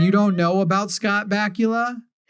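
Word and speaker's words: Bakula: You know, I just because you didn't watch excellent 90s television and you don't know about Scott Bula, whose name rhymes with Dracula, that's how good his name is.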